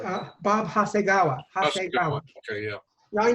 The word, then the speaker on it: Hasegawa: I can't pronounce his name right. I think it's Hayagawa or something like that. Bob Hasegawa.